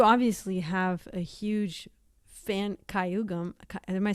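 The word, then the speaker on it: gayageum: So you obviously have a huge fan Kayagum. Am I saying it right? Yes, Kayagum.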